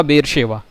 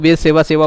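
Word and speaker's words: बेरशेबा: क्योंकि बेर सेवा है, SH है, और लोग बेर सेवा सेवा बोल के पूरा दिमाग खराब कर देते हैं। क्यों कर देते हैं? क्योंकि उनको उसका उच्चारण सही नहीं आ रहा है।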